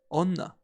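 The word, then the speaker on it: おんな: The kun reading for woman or female is onna, and following sentence can help us remembering this. Is she a new player? Oh no, she's a regular player.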